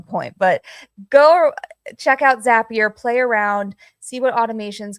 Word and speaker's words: Zapier: So, yes, Zapier, pronounced like Happier, very easy to remember.